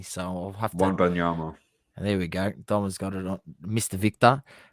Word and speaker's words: Wembanyama: Yeah, I wouldn't even know how to pronounce his surname correctly, so I'll have to. Wembanyama.